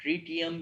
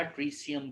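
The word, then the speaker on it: tritium: Reaction में ड्यूट्रियम और ट्रीटियम या ट्रीसियम का नाम देते हैं। प्रोनाउंसिएशन दोनों तरह कर सकते हैं आप इसे दोनों नाम दे सकते हैं, यानी आप इसे ट्रीसियम भी कह सकते हैं, ट्रीटियम भी कह सकते हैं।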